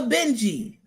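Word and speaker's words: Bintje: What type of vegetable is a Benji? B I N T J E, but it's pronounced Benji.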